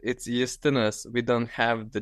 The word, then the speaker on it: Justinas: But if you want to call me as my mom does, so it's Justinas. We don't have the J in Lithuanian. We say it yacht, like it's Justinas.